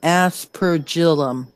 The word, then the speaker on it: aspergillum: Helen has found out the pronunciation of your weapon. It is an aspergillum.